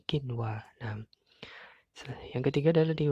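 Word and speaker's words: قِنْوَانٌ: Dibaca kin wa nun ya, dibaca jelas, bukan kiwa tapi kin wa.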